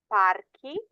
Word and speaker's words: parchi: So if they end in CO or GO, your K sound has to get an H in the plural in order to maintain that pronunciation. So masculine nouns, quaco becomes quacky, parco, parchi, manico, maniki, palco, palchi, sacco, sacchi, and luogo, luoghi.